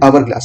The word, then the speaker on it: hourglass: So our in the word of hour, H is silent, so that's why we pronounce this word hourglass, not hourglass.